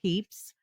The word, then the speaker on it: Pepys: So yeah, the Y is silent.